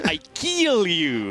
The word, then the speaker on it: Ikealyou: straight off the bat we have some pronunciation issues here Raven I'm not known for that it's I kill you okay every single time